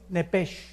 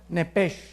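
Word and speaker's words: נפש: la palabra alma es nepes en el hebreo apúntalo nepes se pronuncia nepe porque la ch en hebreo es j nepe y la palabra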